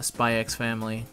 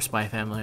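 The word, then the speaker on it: Spy × Family: done it for uh spy x family if or spy family i guess because they don't pronounce the x over there but um it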